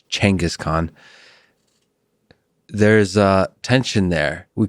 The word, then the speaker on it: Genghis Khan: still trying to adjust most of my life said genghis khan but the right pronunciation is uh actually changus khan there's a tension there